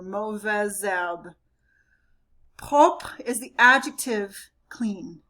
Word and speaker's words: mauvaise herbe: The H in silent is, or the H in herbe is silent, so the Z is going to carry over. Mauvaise herbe.